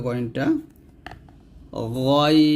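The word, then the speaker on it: غين: করেন আইন তারপর হচ্ছে গাইন কন্ঠের শেষ ভাগ থেকে এটা মোটা করে উচ্চারণ করতে হবে গাইনটা গাইন এরকম তারপর হচ্ছে ফা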